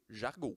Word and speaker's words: Jargeau: Je suis pas sûre de comment on le prononce. C'est Jargeau. Jargo.